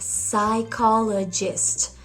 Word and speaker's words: psychologist: Compare it, for example, with psychologist. The P is not pronounced, and this is something that doesn't really happen in Italian.